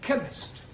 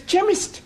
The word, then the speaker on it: chemist: oh yes please spell chemist Oh blame does not begin with a cake it sounds like it begins with K see H that is making its chemist the CH is pronounced